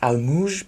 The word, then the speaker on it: Almuj: If you want to be correct, it's pronounced Almuj, but that sounds stupid.